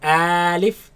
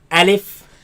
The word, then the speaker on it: ألف: Now this letter you are to pronounce it fast. Do not say Alif and do not say Alif. Say Alif.